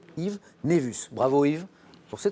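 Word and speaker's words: nævus: Alors ça s'écrit N-A-E collé V-U-S, ça se prononce, vous l'avez bien prononcé, Yves Névus.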